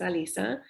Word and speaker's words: Alisa: You might notice it's spelled like Alyssa, but I insist now that it's Alisa.